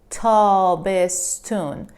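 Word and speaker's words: تابستان: start with spring summer tall bistan tall best sun it is written like this but there is a little bit of change this tan usually ton in persian becomes tun taubes tun tau bis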